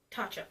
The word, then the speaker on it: Tatcha: Yeah, Tatcha. I pronounced it right this time.